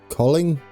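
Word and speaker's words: Kolding: Now, I've been told you don't pronounce the D, I think, in this. Colling?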